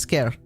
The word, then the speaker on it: Skyr: name again it's tentas scare it's tentacles and scare scare is an Icelandic word it's also like an